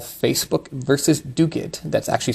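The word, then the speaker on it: Duguid: Supreme Court in a case called Facebook versus dugit that's actually spelled du UI D pronounced dugat as if there's a c and a K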